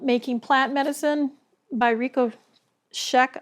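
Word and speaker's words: Richo Cech: making plant medicine by Rico Scheck I think is how you say his name you can go to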